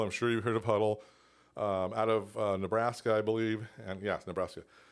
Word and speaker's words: Hudl: Then we started to integrate some apps like Huddle. So the coaches down below, it's spelled HUDL.